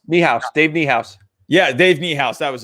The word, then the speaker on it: Niehaus: i thought was great um how do you pronounce who is the famous uh the famous broadcaster for the mariners dave mihaas miehaus dave niehaus yeah dave niehaus that was it my oh